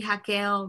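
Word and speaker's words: Raquel: you pronounce it so the r is pronounced like an h in portuguese yes rachel would be hakeel ronald um i actually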